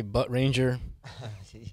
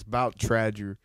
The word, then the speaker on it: Bout Tradger: uh give you weird names for anybody say butt Ranger yes tracks you know like people mispronounce it all the time but it's about Trager we we had a party and we had